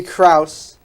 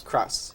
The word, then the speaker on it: Krause: to people like Gary Krause I'm fixing your name Gary I'm sorry about that I mispronounced his name we need to Pro up to Krauss Cross Gary Cross how could you mess